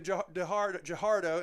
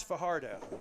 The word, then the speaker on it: Fajardo: Handoff to Jahardo, and he is hard to stop. They do before he gets the first down, but he gets across the 25-yard line. Tackle made That's Fajardo. I mispronounced the name.